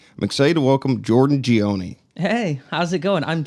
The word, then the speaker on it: Ghioni: I'm excited to welcome Jordan Ghioni. Hey, how's it going? I'm so surprised you pronounced that right.